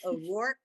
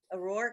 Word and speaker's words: O'Rourke: O'Rourke, am I pronouncing your last name correct, Gemma? O'Rourke? Ida, the last name is correct.